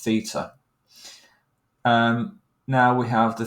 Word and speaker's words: Theta: with this weird um symbol here which is pronounced Theta um now we have the three sides before